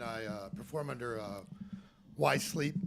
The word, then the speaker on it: Whyzzz: uh perform under uh why sleep it's spelled like wh Y and 3z though so I've interviewed